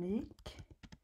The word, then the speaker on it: gick: It's kind of, they don't pronounce this G when they pronounce this word gick.